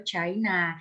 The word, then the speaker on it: Qin: dong betul banget sebutan Cina ini juga berasal dari nama dinasti yaitu dinasti Qin kan kalau kita belajar Mandarin pelafalan Kim itu cin ya nah jadi mungkin ini